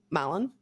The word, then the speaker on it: Mallon: Mallon. I probably should have looked at how to pronounce that, but it's Mallon. So take your pick. Mallon. No, Malone would be Malone, I believe.